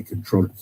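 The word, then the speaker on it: comptroller: It's spelled comproller, but you just say controller and mayoral candidate.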